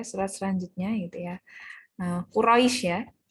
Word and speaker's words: Quraisy: selanjutnya itu ya Nah Quraisy ya Nah Quraisy ini biasanya pengucapannya ada agak kurang tepat gitu ya pengucapannya biasanya al-quraisy kenapa enggak ada Al ya ini sudah spesifik kita pada nama suku ya yang ada di